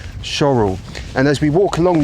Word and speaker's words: Shorwell: you it's pronounced shl it's spelled shorwell but it definitely is shorl and as we walk